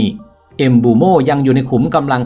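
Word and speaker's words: Mbeumo: ของ แฟน บอล ว่า นาม สกุล ของ เขา ออก เสียง ว่า เอ็มบูโม่ ไม่ ใช่ เอ็มเบอร์โม่ อย่าง ที่ คน ส่วน ใหญ่ เรียก กัน ดาว เตะ วัย 25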